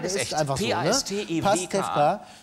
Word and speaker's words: Pastewka: Pastewka. Pastewka. Genau, Vorname Bastian. Bastian. B-A-S-T-I-A-N, so wird es buchstabiert.